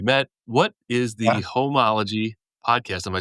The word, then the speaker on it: Homology: the Homology podcast? Am I saying that right? You Homology?